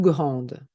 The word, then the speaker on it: grande: Par exemple, comme grand ou grande. C'est un grand jardin, c'est une grande maison. Et au niveau de la prononciation, je n'entends pas le D grand. Et quand j'ajoute le E, je prononce le D.